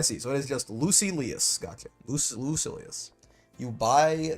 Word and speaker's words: Lucilius: So it is just Lucilius.